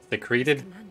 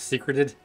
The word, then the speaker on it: secreted: Secreted, not secreted. Hmm. Yes. It's like secretions.